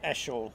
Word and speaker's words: Achille: I used to call him Achille, but I've been told it's Ashel.